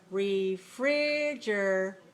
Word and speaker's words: refrigerator: The second syllable is what some dictionaries will show you and call this as primary stress. So refrigerator, and then syllable number 4 is considered to be secondary stress.